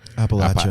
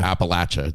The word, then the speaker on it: Appalachia: you know back in I always say it wrong appach Appalachia that the Appalachia Mountains and the people back